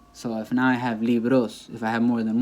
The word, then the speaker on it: libros: Like they'll try to say, no un libro, sino dos libros. And that's incorrect. Dos libros. Okay? It just falls on the li. It stays there.